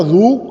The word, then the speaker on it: roux: You pronounce it as a roux, R-O-O, roux, and it is written as roux. The correct pronunciation for this word is roux.